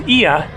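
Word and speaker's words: Oia: here up there is ia it is not oya for some reason they spell it that way but uh it's ia up there is where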